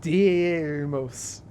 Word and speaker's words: Deimos: a thick moon dynamos no it's spelled like that it's like Dei or something Deimos dynamos when you see